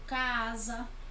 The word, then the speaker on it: casa: alguns exemplos tá certo por exemplo casa a pronúncia é com z mas a gente escreve com essa então nós temos algumas